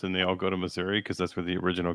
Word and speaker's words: Missouri: It's literally called misery. I swear to God. It's like, why would you have the Garden of Eden and it's called misery? Son, that's because you're pronouncing it wrong. It's Missouri. Anyone who God has chosen